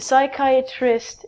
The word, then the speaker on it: psychiatrist: is a psychiatrist a psychiatrist is a doctor who can prescribe you medication if you have a psychological problem again we take out the P and it's like kya